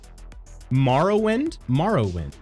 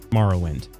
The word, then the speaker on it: Morrowind: modded version of current Morrowind rather than, waiting for Skywind. So I say Morrowind. Oh, okay. Yeah, I guess I say morrow as in like tomorrow.